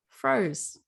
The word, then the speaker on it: Froze: with is and this one i know is pronounced froze it's miracules every day is mangonificent and it